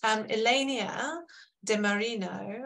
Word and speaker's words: Ilenia De Marino: So we are going to move to Elenia De Marino, I hope I've pronounced your name right, Elenia, we're on first name terms, who's the co-lead of the Alliance's Child Labour Task Force.